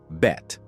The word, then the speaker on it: Bette: Davis but chose to pronounce it with just one syllable. Bet.